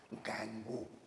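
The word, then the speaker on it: gangue: नाम दिया गया है, गैंगो या गैंग इसको बोलता है, तो गंगुआ बोलोगे तो स्पेलिंग सही निकलेगा, गैंग या मैट्रिक्स कहा जाता है।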